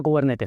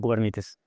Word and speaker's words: Kubernetes: Entonces, cubernetes, primer cosa, se pronuncia cubernetes, no cubernites porque es una palabra, no sé qué.